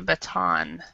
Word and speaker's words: baton: You called it a button, so but it's called a, actually pronounced a baton.